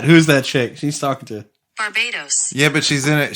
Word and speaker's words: Barbados: Because that's what it sounds like. It's Barbados. And she was actually from there, so she pronounces it Barbados.